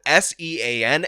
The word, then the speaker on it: Sean: My name is literally spelled S-E-A-N, and somehow that produces Sean, an S-H sound. So obviously, I don't give a damn about hypocrisy. I'm calling this out. I'm making my stand right here because you know what? Sean is the real way. That is the Irish way. That is the traditional way.